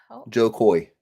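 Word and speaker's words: Jo Koy: Joe Coy.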